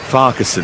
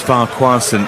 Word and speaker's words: Farquharson: I must apologise as well to her and her family, because I, force of habit, pronounce her surname in a sort of English public school way. Farquharson. And of course it's Farquharson.